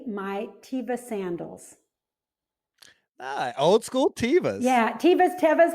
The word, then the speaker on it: Teva: tevas yeah teva's tevas however you pronounce them i'd say tivo's i think they're supposed to be said tavis but i say teamvis i know i and maybe because they used to be tivas and now people call